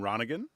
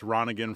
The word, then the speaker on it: Ronningen: So I'm from Shawnigan Lake, and so it's Ronningen from Shawnigan, which is it's kind of an easy way to remember it.